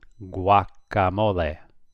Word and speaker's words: guacamole: Well, here we have G-U-A, so you pronounce it. Guacamole.